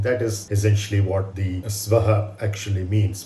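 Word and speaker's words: स्वाहा: is essentially what the swaha actually means many people mispronounce it as suva which is incorrect it is you would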